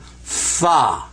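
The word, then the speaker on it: فاء: a dot over it that's called fa fa do re me fa so there you have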